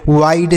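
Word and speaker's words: wide: है जैसे यहां पर हाइड वाइड साइड टाइड गाइड ऐसे पढ़ेंगे ना तो हिडे पढ़ेंगे ना तो विडे पढ़ेंगे ना तो इसको हिड विड इस तर से कुछ भी नहीं पढ़ना है तो आपको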